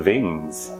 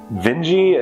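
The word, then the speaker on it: Vinge: uh been referring to the vengies as the veins uh vernerving has a great Ring uh Joan Ving has a great Ring Benji is apparently the correct pronunciation so I'm gonna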